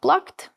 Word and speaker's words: PLŪKT: such a Latvian word plūgt, but together with the designers we came to the conclusion that the word is actually phonetically very good also in export because in English it is pronounced as plakt, it also means to